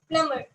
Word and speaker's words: plumber: The longer U, tomb, and the B again here it is silent. Okay. TOMB, tomb. Okay. Last, PLUMBER, PLUMBER, it is plumber.